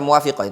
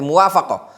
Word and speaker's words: muwafaqah: Lazima sailol bilad almwafaqoh afwan ana bukan baca muwafiqah tapi muwafaqoah lazima sairal bilad almwafaqatu maka seluruh negeri wajib muwafaqoah muwafaqah itu mencocokinya ngikut bahasa kita muwafaqah ngikuti. Bukan baca muwafiqoh afan ana keliru tadi bacanya yang tepat bacanya muwafaqoh.